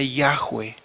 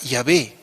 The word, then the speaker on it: Yahweh: indagar al respecto, pues muchos eruditos del idioma hebreo coinciden en que la pronunciación más cercana sería Yahweh. Esa sería la pronunciación más cercana al nombre de Dios. De ahí viene la palabra Yahvé, pues ya se lo